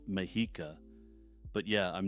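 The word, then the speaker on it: Mexica: Scala tepa Chala and mexa as I'm editing this I realize that the last one is properly pronounced mahika but yeah I'm not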